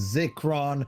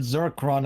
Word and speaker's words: Zircron: This whole time I thought your name was Zikron, and then I heard Zircron, and I'm like, oh god, there's an R.